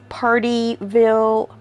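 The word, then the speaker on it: Pardeeville: Weinberger of partyville Wisconsin now not party like p a r t y partyville Wisconsin uh it's party p a r d e e I'm pretty sure I'm pronouncing that that Wisconsin Town correctly the was canonian can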